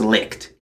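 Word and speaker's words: Leitch: It is pronounced Licht.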